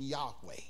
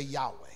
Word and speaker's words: Yahweh: You take all of the vows out of Jehovah and you get the word, the Hebrew pronunciation Yahweh. Let the church say Yahweh.